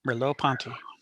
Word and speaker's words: Merleau-Ponty: Merleau-Ponty.